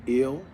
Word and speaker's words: El: And El, which is pronounced Il, is the S-U-N, sun. Also is Saturn. Okay, so when Sut became planetarian, Sut became Saturn. And Saturn is also called Il, E-L, or A-L, right?